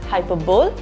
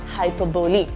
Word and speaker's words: hyperbole: You do not pronounce it as hyperbole, you pronounce it as hyperbole.